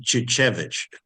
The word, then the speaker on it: Czwycicz: She pronounced it Chichevich. Chichevich, yeah, chair. That's how she pronounced it.